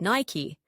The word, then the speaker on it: Nike: Nike, pronounced Nike, after the Greek goddess of victory.